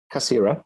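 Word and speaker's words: Cassirer: Yes, as you mentioned, the book is Time of the Magicians, Wittgenstein, Benjamin, Cassier, is that how you say it? Cassira.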